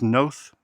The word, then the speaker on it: Noth: Bernie Mac, Paul Sorvino, Chris Noth, rhymes with both, and Angela Bassett.